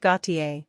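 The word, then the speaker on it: Gotye: letters will make it more interesting the band Gautier pronounced go t i is a re-spelling of the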